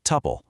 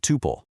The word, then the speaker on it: tuple: It's an ordered set of elements, and it's pronounced tuple. It rhymes with supple or couple, not toople.